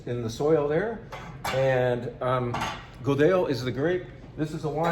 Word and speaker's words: Godello: This grape is Godello, Godello. And you see the double L, you pronounce it yeah, just like llama, como te llamas, or what's the name of your llama?